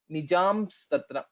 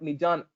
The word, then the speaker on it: निजांस्तत्र: It's not Nijan. It's not Nakara. It will be Makara only. Nijam. So we'll have to close our lips.